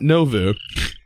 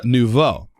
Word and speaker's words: nouveau: and then it's uh not novu it's uh nouveau which is completely opposite of what i say uh so our nouveau